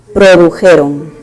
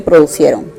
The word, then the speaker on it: produjeron: Y como está en plural, tiene que ser produjeron. Produjeron. No se dice producieron. Producieron no se dice, ¿correcto? Se dice produjeron.